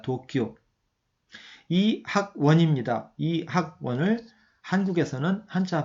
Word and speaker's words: 도쿄: 일본은 도쿄라고 읽습니다. 도쿄.